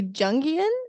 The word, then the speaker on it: Jungian: So you're a Zen Buddhist teacher and a Jungian. Am I pronouncing that right? Psychotherapist? Jungian.